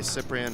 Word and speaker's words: Cyprian: ago and he says most English people call me cyprian and it's fine but you know my name is pronounced okay that's why I've